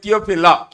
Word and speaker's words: Theophilus: We write it as Theophilus, but we have to say only Theophila.